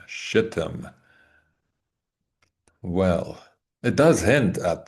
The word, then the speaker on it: Shittim: I think I pronounced that correctly. And I insist that's the correct pronunciation. Shittim.